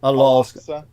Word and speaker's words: Al-Aqsa: Al-Aqsa. Yeah, the archaic name. Hubli. Yeah. But it's spelled with a Q, so more, yeah. It's a guttural consonant.